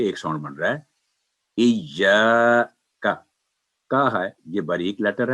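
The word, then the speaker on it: إِيَّاكَ: چلتے ہیں، ہاں جی، تو صحیح تلفظ یہ ہے کہ ایاکا، یعنی ایا کا نعبد نہ ہو، پہلے تسلی سے ایا،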